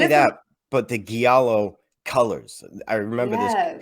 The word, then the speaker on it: giallo: like Jello, but Gia at the beginning, so Yellow, Giallo.